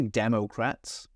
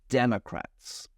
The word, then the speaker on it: Democrats: There's an O there, but I don't say Democrats. I'm lazy. I use Democrats.